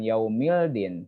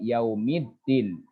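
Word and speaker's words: يوم الدين: Jadi kalau ada alif lam, kemudian ada tasdid di sini, dibacanya bukan yaumildin, tapi yaumiddin.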